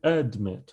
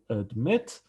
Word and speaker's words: admit: admit we say admit we don't say admit we say admit therefore we double the